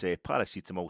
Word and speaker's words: paracetamol: That's how it's pronounced. I mean, it's funny. He couldn't pronounce it right. Could he? He pronounced it Tylenol. And no, it's Paracetamol.